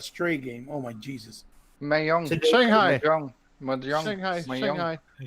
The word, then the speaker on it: Mahjong: Mahjong. Shanghai. Mahjong. Shanghai. Mahjong. Shanghai. Okay, Hold on, spell I'll- it. Spell it.